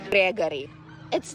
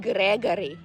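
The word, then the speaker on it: Григорий: or for short Lisa Gregory it's not Gregory it's gregoryi and I know in America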